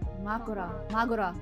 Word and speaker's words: Mahoraga: Makoraga. Sounds familiar. Yeah, I think it's Makoraga, is that, I think that's the right term, but they say it like a silent ga, the last syllable. Magura, something like Magura, that.